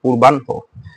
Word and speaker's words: পূর্বাহ্ন: এর আগে আমরা দেখি পূর্বাহ্ন, পূর্বাহ্ন, পূর্বাহ্ন, হয়ের সাথে কি রয়েছে, হয়ের সাথে কি রয়েছে, মূর্ধন্য রয়েছে, রাইট। তো যেহেতু হয়ের সাথে মূর্ধন্য যুক্ত রয়েছে, হয়ের সাথে মূর্ধন্য থাকলে বা দন্তান্ন থাকলে বা ল থাকলে পরেরটা আগে উচ্চারিত হবে। যেমন কি পূর্বান, পূর্বাহন হওয়ার কথা ছিল না, কি হয়েছে, আগেটা দন্তান্ন হয়েছে, তারপর কি হয়েছে, পূর্বান হো, পূর্বান হো।